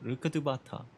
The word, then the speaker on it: Rukkhadevata: Rukkhadevata.